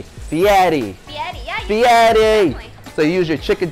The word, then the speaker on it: Fieri: hear people say fieri what's the right way to say this spaghetti so you don't just say fiera you say fiatty so you use your